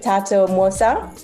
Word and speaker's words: Thato Mwosa: Thato Mwosa.